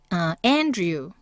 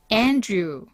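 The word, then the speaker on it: Andrew: 되겠네요 자 그 다음에 천둥 우뢰라는 뜻입니다 번데기 발음으로 해주세요 자 그다음에 안드레는요 andu andu 난 빌립은 ph가 f로 발음이 됩니다 이건 우리말을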